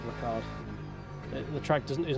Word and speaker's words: Ricard: I've had some good races on Paul Richard, don't get me wrong, but the track itself is not particularly enjoyable. And no, I'm not saying his name wrong. I refuse to say Ricard.